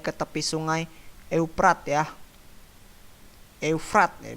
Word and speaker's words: Eufrat: Eufrat ya bacanya, Eufrat.